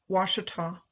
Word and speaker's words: Ouachita: My starting point is Monroe, the parish seat of Louisiana's Ouachita, pronounced Washita, Parish.